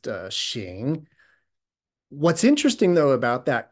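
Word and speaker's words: 行: they chose to use, a particular character pronounced xing.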